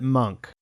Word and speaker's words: Munch: I should mention that we hear the character say his own name in episode 4 and he pronounces it monk so I do understand